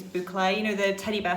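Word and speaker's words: bouclé: I got told off the other day for saying it wrong because I'd call it buccal and people I think it's boucle, you know, the teddy bear fabric.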